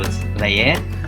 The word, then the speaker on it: leer: You pronounce both E's. Instead of like in English, it kind of looks like leer, but in Spanish we do say each E, so it's leer, which means to read.